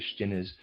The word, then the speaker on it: Stinnes: Stinnes could accomplish anything within the German labor force? Readers aside, Stinnes, I'm pronouncing it that way, is spelled S-T-I-N-N-E-S, Stinnes. End of readers aside.